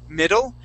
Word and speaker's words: middle: So when we say that word middle, okay, think of those D's not like Spanish D's, but like Spanish R's. Okay, so listen how I say this. I say middle and also ere. Okay, you hear how my tongue is hitting the top of my mouth?